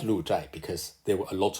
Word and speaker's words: 鹿柴: is just a name chai is usually pronounced as chai but here it should be pronounced as cha it means some fenced encirclement and lucha is actually the name